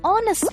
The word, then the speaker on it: honest: say manawa and an honest man but why because even though these words begin with a consonant the letter H is silent so the words begin with a vowel sound the vowel sound of